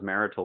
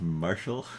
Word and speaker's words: martial: I thought that was marital weapons. Yeah, me too. Like I believe it's pronounced martial.